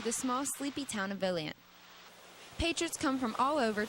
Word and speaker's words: Volant: The tiny borough of Volant is home to numerous shops and antiques.